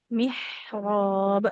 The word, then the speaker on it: محراب: Kol-kolahnya jangan ditahan. Tidak Zakaria al-mihrab. Tapi langsung. Mihrab. Jadi langsung pantun.